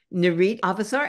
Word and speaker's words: Nurit Avesar: artist talk tonight is narit avasar is that the right way to say your name exactly very very right and she's a terrific